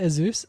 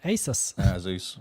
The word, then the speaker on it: Asus: it that way okay you say azus it's called Asus Zeus I'm going for a Zeus uh with a built-in LED o LED screen oh um if you don't like how to say it email me that's fine